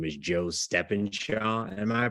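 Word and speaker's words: Stephenshaw: His name is Joe Steffenshaw. Am I pronouncing that right? Yeah. Joe Steffenshaw, and it was Miss Keeley before, and she's moved on.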